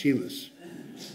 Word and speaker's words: humus: material and they live in hummus helis not hummus humus Sorry by the way I discovered that that